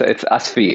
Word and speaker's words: Asfi: is your name pronounced Asfi? No, it's Asfi. It's like ass and then fee.